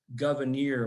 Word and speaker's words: Gouverneur: few years ago and he says that the way you pronounce it is governor morris uh i for better